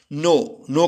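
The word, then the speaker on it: know: नो का मतलब है जानना, जानते हैं कि इसमें साइलेंट होता है।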